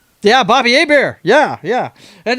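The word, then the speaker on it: Hebert: Bobby Hayabbear. I remember that guy. Yeah. Bobby Abear. Yeah. Yeah. And it's spelled the same way. It's just he's from Louisiana, so we we pronounce it different.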